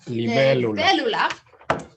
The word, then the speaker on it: Libélula: This book, El Viaje de la, and I always pronounce this wrong, Libélula. Libélula.